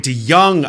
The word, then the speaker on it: De Jongh: All right, so we have Lloyd De Jongh on the show. I did mispronounce it. It's a soft J.